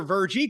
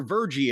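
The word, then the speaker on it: Virgie: remember Vie?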